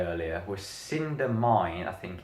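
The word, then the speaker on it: Cidhna Mine: Cinder Mine.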